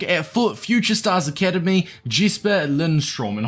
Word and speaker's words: Jesper Lindstrøm: Academy jisper Lindstrom and hopefully I'm pronouncing that somewhat correctly in fact Let me give a quick pronunciation up so I don't butcher it for the whole 10 minute video apparently we got quite close I think it's Jesus Lindstrom uh we'll just call them Jasper now when you first